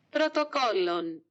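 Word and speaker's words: πρωτόκολλον: Jadi kita langsung aja lanjut ke bahasa Yunani yang pelafalannya kurang lebih itu seperti ini. Protokollon.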